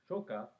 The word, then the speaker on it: Shocker: by an evil organization called shocker or shoka as it's pronounced in a tv series but and i should